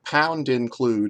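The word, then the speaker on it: #include: the ha the the pound include is how programmers would pronounce it you might call it hashtag include uh in the twitter era but it's it's not pronounced that way it's pronounced pound include um we pound include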